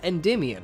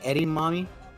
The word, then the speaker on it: Endymion: any Cardon know what how do you pronounce it isn't it it's Endymion right yeah okay but did you call it edamame I mean edamame is